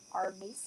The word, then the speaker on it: Armisen: It's definitely nothing like Black Mirror, but it's about the afterlife, and it has Maya Rudolph and Fred Armisen, I think is how you pronounce his last name.